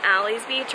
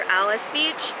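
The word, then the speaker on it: Alys Beach: bike ride away from Ali's Beach or Alice Beach you guys know which one it is like comment down below because we're all so confused I don't get why spelled alleys and pronounce Alice so let me know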